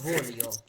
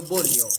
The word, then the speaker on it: voglio: উনি এখানে বলতেছে ইও ভোলিও, ভোলিও, ভু এর মতো উচ্চারণ করতেছে, ভ, ভয়ের মতো। আর আপনি বলতেছেন কি ইও বলিও, বয়ের মতো।